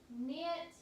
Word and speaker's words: knit: word as in not knit and nine and if it's spelled with the KN and then not knit at night that K doesn't make a sound it's a silent K okay so those are